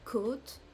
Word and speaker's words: côte: Une côte, côte, it can be the ribs or it can be the coast on the shore. So this is this very closed O here for a first option.